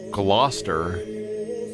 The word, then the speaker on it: Gloucester: It's pronounced Gloucester.